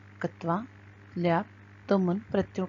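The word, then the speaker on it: क्त्वा: त्वा, यह हमें कत्वा इस प्रकार दिखाई दे रहा है लेकिन इसका मुख्य उच्चारण है त्वा प्रत्यय।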